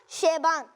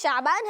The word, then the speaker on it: شعبان: آپ نے کہا شیبان, شیبان نہیں ہے, اس کا صحیح تلفظ شعبان ہے, تو اس کو آپ بعد میں کریکٹ کر لیجیے گا.